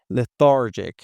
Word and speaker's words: lethargic: The pronunciation is very important. We've got TH here. Le, thar, thar, lethargic. And you remember I told you the I is in an unstressed position again, so we can change it into a schwa.